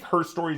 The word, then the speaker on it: Her Story: So I think Her Story is the correct way to pronounce the title.